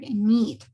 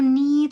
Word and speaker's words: need: Y Javi, don't forget the pronunciation of the word need. Sí, if you need something, esa doble E suena como una I.